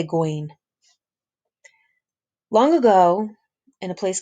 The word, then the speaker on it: Gawain: Some people pronounce it Gawain. I say Gawain.